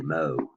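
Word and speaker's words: mho: And the unit is the mo, which is spelled backwards. Mo is in lowercase letters. So I guess they came up with this because it's opposite of an ohm.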